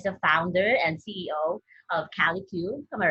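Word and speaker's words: Kalicube: Okay, so Jason Barnard is the founder and CEO of CaliQ. Am I right? Am I pronouncing it right? Okay. So Yep, Kelly Cube.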